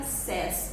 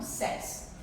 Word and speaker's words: says: Então, olha só, say fica says, é o único verbo que muda a pronúncia, tá? Então, says.